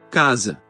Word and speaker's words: casa: La pronunciación de la S intervocálica es sorda en el español y sonora en el portugués, fenómeno que este último comparte con la mayoría de lenguas romances. Casa. Casa.